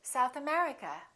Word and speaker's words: South America: and names of places if the place has two words we stress the second word for example south america we say south america united kingdom we say